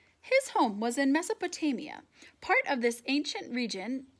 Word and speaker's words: Mesopotamia: home was in ok this helps me pronounce it I'm pronouncing Mesopotamia and spell it's pronounced mess Oh potay me uh his home was in Mesopotamia part of this ancient